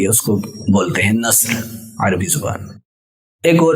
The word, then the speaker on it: نصر: لیں۔ ایسے ہی ایک اور لفظ ہے نصر، نون صاد اور را، نون صاد اور را۔ اب نصر کو صاد کی جگہ اگر سین پڑھ دیا جائے، نصر، صاد کو صحیح طریقے سے عربی لہجے میں ادا نہ کیا جائے، نصر ایسے نہ پڑھا جائے، نصر پڑھ دیا جائے تو اس کا مطلب ہو جائے گا گدھ۔ گدھ یعنی یہ چیل